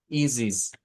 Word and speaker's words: is it: Pero resulta que el Spoken English nos dice que esto lo pronunciamos como easies, easies.